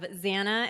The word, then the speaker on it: Zana: right everybody we have Zana and again silently in my head I said banana because she said my name rhymes with banana so now I have